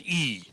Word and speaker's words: i: And it is simply the one letter I, pronounced E.